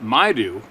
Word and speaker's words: Maidu: the story from the may do pronounced my do man from Oroville California